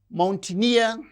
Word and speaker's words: mountaineer: And these words mountaineer, engineer. So, words that end with uh the suffix near receives stress on the suffix itself.